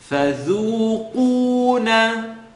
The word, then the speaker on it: فَذُوقُوا: And that's going to be a heavy dhal. Dhal is never heavy. So, فَذُو, فَذُو. It's a tip of the tongue, edge of the top teeth. Let me say it right, and then you can hear it not so right. فَذُوقُونَ, فَذُو, ذُو, ذُو. You hear the oo sound, not the oo.